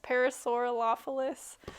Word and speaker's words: Parasaurolophus: But I think it's pronounced a Parasaurolophus, Parasaurolophus, something like that.